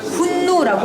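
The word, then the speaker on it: Хүннү: 창고로 가져왔구요 자 몽골어로 실제 발음은 홍어스 분노라고 합니다 근데 중국 사람들이 일부러 몽고라고 명칭을 만들어 뜻이 형로 이렇게 맞는 것입니다 근데 실제 발음은 분노입니다 홍어라는 그거는 사람을 하는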